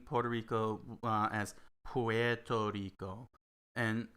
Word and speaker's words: Puerto Rico: there you go yeah never pronounce the ue it's a very it's very very rare that that the ue gets pronounced maybe in spanish but in english never never pronounced the ue in english when you're pronouncing in english it's puerto rico so uh so let's